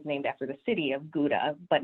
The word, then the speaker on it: Gouda: name gouda or sauda the correct way to pronounce it the dutch way a little more guttural sound there howda so basically towns in